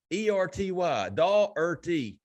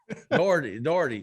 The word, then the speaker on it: Daugherty: There's not a D or a T in the middle. It's like daughter. You trying to tell this man how to pronounce his own last name? Listen, Daughterty, Daugherty, Dakari Nelson.